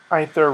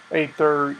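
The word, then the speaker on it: Aether: kaladesh block kades and ether Revolt ather ether ether however you'd like to pronounce it it's with the ash AE mixed together although supposedly for better translation they're separating the A and the e as a fan of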